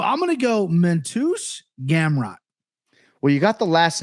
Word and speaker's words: Gamrot: My name is Mateusz Gamrot.